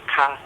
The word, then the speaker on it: K: We go like, ah, and K in Portuguese is pronounced ka.